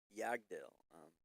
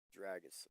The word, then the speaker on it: Yggdrasil: So, Yagdil, and I'm saying it wrong. It's pronounced like Dragosil, I think is what it's pronounced.